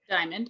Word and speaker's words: Dymond: Dymond, am I saying it correctly? Dymond, yep.